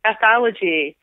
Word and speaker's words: ethology: Can you actually spell that first word? It sounds like anthology. Ethology.